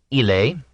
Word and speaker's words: ille: In popular Latin, ille, he, was one syllable, like French and Italian il.